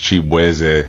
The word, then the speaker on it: Chibueze: Nigerian American, so my last name is actually pronounced Chibueze.